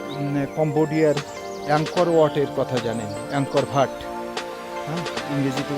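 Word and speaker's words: Angkor Wat: অংকর ভাট। ইংরেজিতে উচ্চারণ করতে গেলেংকর ওয়াট উচ্চারণ করে।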